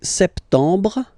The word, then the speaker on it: septembre: So, septembre, septembre, septembre. Remember this E-M en septembre. You don't insist on the final E.